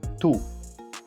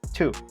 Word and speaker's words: two: Just try to pronounce the T sound more explosively. Listen to the difference. Incorrect, 2. Correct, 2.